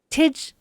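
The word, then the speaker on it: Tij: Tidge rhyming with fridge. Tidge.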